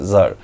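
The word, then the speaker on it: czar: উজ্জ্ব থাকে সি উচ্চারণে সি জেড এ আর জার তাহলে আই এম জার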